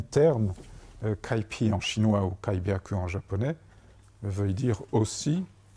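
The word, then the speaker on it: 開闢: Et on trouve Kaipi, qui se prononce en japonais Kaibyaku.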